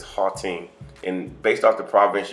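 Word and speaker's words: Gauteng: it's spelled g-a-u-t-e-n-g and i know in the states we would say gall team or something to that effect but it's hall team and based off the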